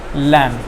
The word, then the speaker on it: lamb: For example, you can take lamb, palm. So see, in these 2 words, L is silent. I mean, in the second word, L is silent, and in the first word, B is silent.